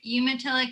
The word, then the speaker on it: Umatilla: the relationship between the tribes and how to pronounce all of them yeah so the tribes are umatilla cayuse and nest purse um currently right now